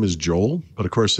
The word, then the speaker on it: Joel: His name is Joel. But, of course, in Mexico, you pronounce that Joel. Joel. Joel.